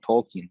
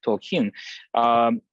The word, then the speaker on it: Tolkien: Tolkien, the writer of The Lord of the Rings, and he actually the stress is on the final syllable, so it's actually not Tolkien, but Tolkien.